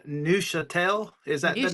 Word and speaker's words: Neuchâtel: And you said Neuchâtel. Is that the Nush. name of that? It is. Yes. Neuchâtel? Can you Neuchatel.